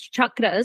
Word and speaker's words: chakras: so it's pronounced as chakras so I always chakras it's um actually so that's actually how it's pronounced um I always tell people it's like Chuck Norris and I'm creating a